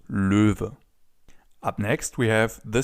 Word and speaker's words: Löwe: So for now, it's just important that the animal is pronounced Löwe.